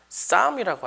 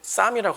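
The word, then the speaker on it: Psalms: 그럼 영어로는 시편을 뭐라고 할까요? 쌈이라고 하죠. 피는 묵음 쌈이라고 합니다.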